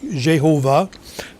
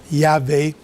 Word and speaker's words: Yahvé: Maintenant, je réalise que pour certaines personnes, on prononce Yahvé plutôt que Jéhovah. Et Jéhovah, c'est probablement la façon que ceux qui parlent latin ont voulu traduire l'hébreu. Mais dans l'hébreu, c'est vraiment Yahvé et c'est son nom.